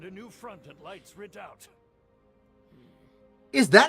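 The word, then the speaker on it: redoubt: Ru like French or but red redou is I don't think that's how you're supposed to pronounce it hold on a second uh I want uh redout redout it is literally pronounced redout okay I pray for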